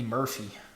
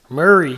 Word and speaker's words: Murray: Number 80, you got Andy Murphy. Murray. Murray. Not Murphy. Murray.